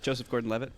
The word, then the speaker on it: Joseph Gordon-Levitt: Joseph Gordon-Levitt.